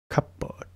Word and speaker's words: cupboard: Cupboard.